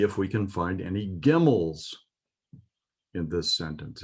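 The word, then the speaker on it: גימל: Gimel sounds almost like camel.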